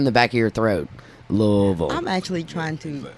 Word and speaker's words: Louisville: and bred raised in Louisville Kentucky okay love that I have to teach people all over the world how to say it they're always like Louisville they always a Louisville and I'm like girl